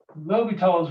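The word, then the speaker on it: L'Hôpital's: use this thing called low because rule so lobital's rule okay so it's spelled like this so it's l with uh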